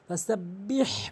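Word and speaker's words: سَبِّحْ: পড়বেন বাবর এটা বিহ অনেকেই যে ভুলটি করে সেটা হচ্ছে বিহ বলে সাব্বিহ বলতে হবে কারণ হাটি হলকের মাঝখান থেকে উচ্চারণ হয় বাজের বিহা মিম জবর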